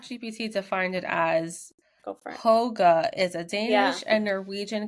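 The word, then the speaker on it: hygge: how to say but I think it's pronounce h hold on because I did Google I I did chat G it's I did too H pronounce hogga h I call it I call it Hy because oh it it does it does look like that but it's a it's Danish right it's like the Danish way of so track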